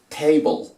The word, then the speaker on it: table: Pero aquí al final la E no suena y las palabras que terminan en gle, en ple, en cle, en dle, entonces la E no suena y en la mitad de las dos consonantes que queda hacemos de cuenta que hay una O. Entonces para decir mesa decimos table, table.